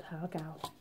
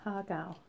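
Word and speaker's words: har gow: done a nice display these are called hog out I don't send that right I might be completely wrong it's M H AR okay a hog ow but that's how they pronounce it I'm not going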